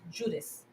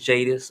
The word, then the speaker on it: Jadus: are my name is jadis uh the brand is jaden's justice apparel um basically the the the actual name the actual name stemmed up from my name which is jadis which is spelled j-a-d-u-s but the u.s is